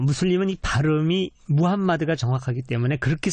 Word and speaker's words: 무함마드: 볼 수 있는데 에 무함마드가 정확하다 그래서 그렇게 이제 많이 원하기 때문에 저는 이제 무한 맛 이라고 발음을 합니다 예 근데 무함마드 알